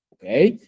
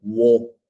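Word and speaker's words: を: Pero aquí sería wa, wo, entonces sería wo, ¿desu ne? Sin embargo, Lupita-san, aunque dice wo, digo o, O sea, entendemos.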